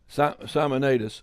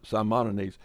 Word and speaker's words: Simonides: all right now i i just got a correction on the pronunciation is simonines okay so well i'll try to remember that some simonides i don't have any